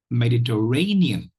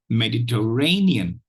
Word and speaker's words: Mediterranean: syllables you have uh the fourth syllable is is uh stressed uh has primary stress